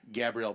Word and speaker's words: Gabriel: Jack Nicholson, Al Pacino, Viggo Mortensen, Gabrielle Byrne, Elizabeth Hurley. It's Gabriel, by the way.